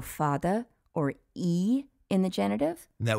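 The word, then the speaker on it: Uí: And you'd pronounce that how? E.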